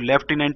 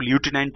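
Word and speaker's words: lieutenant: इसको ल्यूटिनेंट बोला जाता है, ल्यूटिनेंट स्पेलिंग का प्रोनाउंसिएशन होता है, बोलते हैं उसको लेफ्टिनेंट है।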